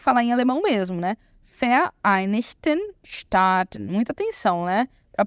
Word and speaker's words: Vereinigten Staaten: Vereinigten Staaten. Muita atenção, né? Para a pronúncia.